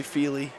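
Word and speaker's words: Feely: for us here Mr Neely other than the fact that uh it's it's actually fely fely I don't know why uh BJ said Neely well I think I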